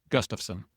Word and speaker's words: Gustafson: Uh just in Nebraska, your last name would be pronounced Gustiffson. Yeah, you nailed it.